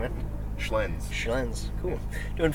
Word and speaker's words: Schlenz: And how do you pronounce the last name, man? Schlenz.